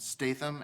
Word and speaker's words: Statham: My name is Statham, and Statham, Statham. It's kind of like Statham, but pronounced Statham.